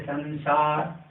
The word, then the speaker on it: संसार: तो न से करेंगे। जैसे संसार, संसार, यहाँ पर अनुस्वार के बाद जो है ऊष्म वर्ण है, इसलिए यहाँ पर हम